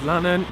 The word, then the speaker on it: Lannen: Good morning, my name's Lannen, rhymes with cannon, and still a little bit dark.